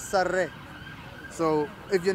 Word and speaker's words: Sarah: And by the way, the name Sarah, it's not the way you pronounce it. It's Sarre.